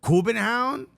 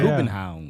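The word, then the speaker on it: København: Kubenhavn. That's how they pronounce it. That's how they pronounce the city. Yeah. Kubenhavn.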